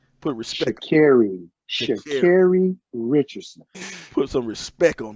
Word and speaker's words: Sha'Carri: And I don't want to say her name wrong, so LeBron, say her first name right. Put respect. Sha'Carri Richardson.